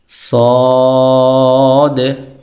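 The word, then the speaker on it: صاد: তারপরের সেটে হচ্ছে সিন, সদ। সিন এবং সদের মধ্যে পার্থক্য আছে। সিন এটা উচ্চারণের সময় জবর দিয়ে উচ্চারণ করলে সা হয়, সদ এটাকে জবর দিয়ে উচ্চারণ করলে স হয়।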